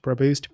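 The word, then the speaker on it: Praboost: instagram and twitter at pro boost i know it's a weird name but it's pronounced produced p-r-a-b-o-o-s-t until next time keep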